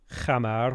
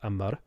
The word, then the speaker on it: Hamar: squares next to it you say hammer wrong how do you say hamardan amar try to think of like how a norwegian might say it like ammar this is an 80